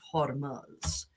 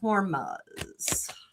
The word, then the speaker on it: Hormuz: Let's talk about the Strait of Hormuz.